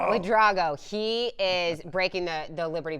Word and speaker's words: Wadrago: Jill Wadrago. That's how you say our triple jumper. Shout out to Paul Carmody for that pronunciation. Wadrago.